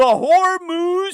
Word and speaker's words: Hormuz: emphasis, guardian of the Hormuz Strait, because he would pronounce it with the H, like Hormel. For your information, the H is silent in the naming of the strait.